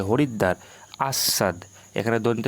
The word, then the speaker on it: হরিদ্বার: দয় ব আকার র এখানে দেখো দটা দুবার উচ্চারণ হচ্ছে হরিদ্বার আসসাদ এখানে দন্ত স